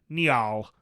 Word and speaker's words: Njal: Njal Stormcooler as opposed to Yeah, Njal. and that's why I always find it hard. It's Njal.